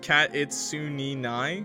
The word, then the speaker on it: Kitsune: Yeah, it's actually pronounced Kitsune.